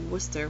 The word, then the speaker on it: Worcester: Us over in Amherst, Westfield, and Springfield pronounce the name of the state's second-largest city, Worcester, with an R at the end.